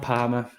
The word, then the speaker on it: Parma: Let's talk about Palmer. Rhymes with drama for a reason, I guess.